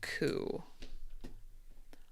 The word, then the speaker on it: coup: Oh, actually, I think all of these are silent Ps. Okay. I think this might be a connection. Receipt, psycho, core, and coup.